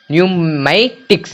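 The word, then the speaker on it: pneumatics: भी साउंड नहीं आया पी का कोई भी उच्चारण नहीं है जैसे कि पी एन ई यू एम ए टी आई सी एस न्यूमेटिक्स न्यूमेटिक्स देखिए यहां पे एन ए ए के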